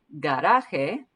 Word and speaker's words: garaje: Garaje Okay, this is a hard G sound, G, but then the J in here sounds like an H. The J's always sound like H's in Spanish.